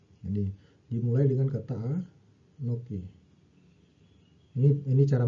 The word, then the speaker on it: אָנֹכִי: Jadi ee kata pertama dari 10 hukum itu dimulai dengan kata anokhi. Ini dimulai dengan kata a anoki. Ini ini cara bacanya ya.